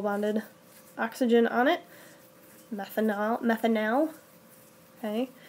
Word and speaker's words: methanal: oxygen on it methanol methanal okay I usually pronunciate the AL at the end so that I can tell it from all from alcohol okay so the same thing